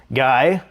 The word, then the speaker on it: Guy: My name is Guy, which is the American pronunciation of Guy, as you point out.